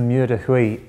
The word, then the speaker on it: Mur de Huy: I'm going to get you to pronounce it properly. Talk us through the stage 3. Well, it's the Mur de Huy.